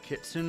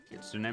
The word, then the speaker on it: Kitsune: Does it only matter if I'm wearing the Kitsun mask? Kitsune mask. I have a friend named Kitsun who is spelled like Kitsune and so I that's literally a song.